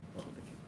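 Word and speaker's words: Othokent: It's spelled O-T-H-O. Otho. Otho. O-T-H-O K-E-N-T. K-E-N. Queen Othakent.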